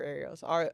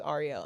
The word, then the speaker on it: Arielle: I always always if anybody calls me Ariel, it's never Ariel. Always Ariel. And I'm never going to let you call me Ariel because that's not who I am.